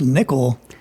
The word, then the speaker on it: NCCL: NCCL, pronounced nickel, stands for Nvidia's collective communication library.